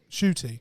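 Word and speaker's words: Ncuti: gwa chitty gwa shoy shooty that's the best way to pronounce it shoot e shoot e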